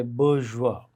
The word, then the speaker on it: bourgeois: more or less on point when I say bourgeois so first I learned the pronunciation right online dictionaries if you go to